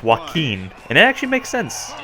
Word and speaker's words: Joaquin: that it was Joaquin I thought it was Joe Quinn because that's the way they pronounce a here but it's Joaquin and it actually makes